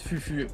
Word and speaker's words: foufou: d' d'où vient foufou alors déjà ça se prononce fufu et en fait ça